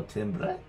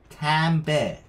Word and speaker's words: timbre: Tambe. Tambe. I'm trying to read this pronunciation. Tambe. Tambe. Oh, it's actually pronounced tambe. Interesting way.